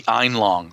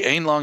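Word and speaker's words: Aenlong: The Einlong, or the Einlong is how it's pronounced.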